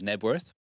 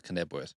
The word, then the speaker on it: Knebworth: The silent K on that one, is it? It is. Not Knebworth. It's not Knebworth. Okay.